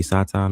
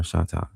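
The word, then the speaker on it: שטן: it's just Satan, but I pronounce it from a different from a different Hebrew language. So, that's why I'm using the H with it and saying sha, but it can be Satan or Shatan.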